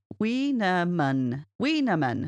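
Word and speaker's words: Wenamun: Report of Wenanmun. I can't even read my whole slide. Like trying to say anemone. I know, it is. Weenamun. There we go. We got to get the syllables in the right order.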